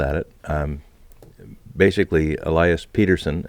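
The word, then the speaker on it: Pettersson: it basically Elias Peterson and that's how he wants it pronounced by the way Peterson even though people say Patterson Patterson had this wrong yeah they asked him what he wanted and he he's told the reporters how he would prefer his name be pronounced in his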